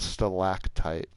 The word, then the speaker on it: stalactite: So it is stalactite, stalagmite. Not many people know about that. Everyone knows that there's a difference, M and T. I don't think people know that the first like syllable is like different.